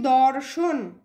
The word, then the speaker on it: দর্শন: দর্শন। তাহলে র এর উচ্চারণ আগে আসছে, আগে হবে র, তার সঙ্গে যুক্ত হচ্ছে তালব্য স, তাহলে তালব্য শয়ে রেফ।